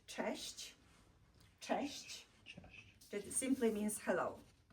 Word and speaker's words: cześć: Let's pronounce this word together, cześć.